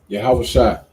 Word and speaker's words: Yahawashi: then was yahawashi right that's how you say his name in Hebrew right yahawashi who the world calls